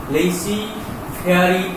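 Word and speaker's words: laissez-faire: লেইসি ফেয়ারি policy, যেটার উচ্চারণটা হবে না, লেইসি ফেয়ারি পলিসি।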